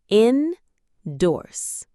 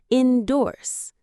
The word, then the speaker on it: endorse: Endorse. Two strong parts. Inorse. The stress is on the second part which makes it sound confident. Endorse.